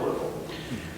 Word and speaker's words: Louisville: chris eggleton i was born in louisville kentucky that's the right way to say it too there's all kinds of variations okay but uh i was my